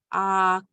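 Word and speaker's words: Aaka: So we have Aka, and it's pronounced with the K. So you know, like a typical English K, it's pronounced like on the roof of your mouth.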